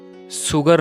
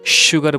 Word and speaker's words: sugar: हम सुगर नहीं शुगर बोलेंगे, sugar, passion, precious, precious, special, special, sure, sure, pressure, pressure.